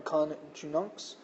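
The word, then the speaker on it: coniunx: And conjugam is a third declension noun from conjunx, conjugus, and I'm pronouncing the I more as a consonantal J, more as like our English J sound, but it just means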